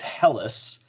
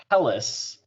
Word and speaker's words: Helles: be is my 6th Hell's Lager. Awesome. And what I've learned is that it's actually not pronounced Hells. It's actually pronounced Helles.